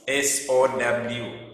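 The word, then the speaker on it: sew: This word is so in number 3, the word in brackets is S-O-W. I mean S-E-W, and that is so.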